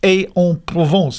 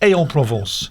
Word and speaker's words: Aix-en-Provence: Italy and ending at our regular stopover at Aix-en-Provence. Have I pronounced that correctly? I think so. It's a good attempt. Aix-en-Provence, AIX.